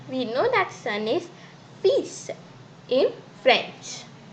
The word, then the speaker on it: fils: We know that son is fils in French. And I have told you that here this L is not pronounced. Do keep this in your mind. If you say fils, then it's wrong.